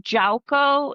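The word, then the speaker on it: Yauco: Well, they were originally from Jaco. It's spelled Y A U O.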